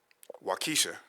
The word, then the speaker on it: Waukesha: Waukesha.